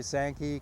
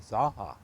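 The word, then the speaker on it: Zanja: I never heard it pronounced correctly until about 25 years ago. And so when I'm with Redlanders, I say Sankey. When I'm with people that I'm introducing to the area, I say Zaha, because the J is pronounced as an H in Spanish.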